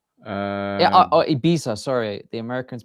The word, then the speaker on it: Ibiza: And we had Martin was in Ibiza, and I think Patrick has taken some inspiration out of Martin's travel book and made his way over to LA.